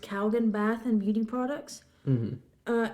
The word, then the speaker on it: Calgon: slogan used in commercials for i think it's pronounced calgon bath and beauty products uh and it reached